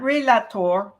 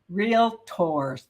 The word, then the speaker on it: realtor: Estate okay real estate we are real tours not realator Realtors to work two syllables realtor okay so learn those